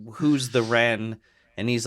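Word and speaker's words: Rennes: Because as he's saying that, Quentin keeps calling him Renz. And the guy's like, my name's not Renz. Oh, yeah. It's Ren. It's French. You don't pronounce the S at the end.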